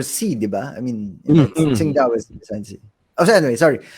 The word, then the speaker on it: Qingdao: It's pronounced as Qingdao.